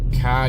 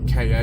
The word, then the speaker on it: Ka: Before we continue, yes, there are 3 different pronunciations for car. You can say car, you can say KA, a lot of people say that, and you can say car.